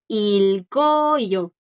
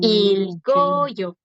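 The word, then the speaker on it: 읽어요: Este verbo en neutral se pronuncia ilgoyo, Ok. ilgoyo. Ahí la G sí suena sin problema, porque Ajá, ahora le sigue ajá. una vocal.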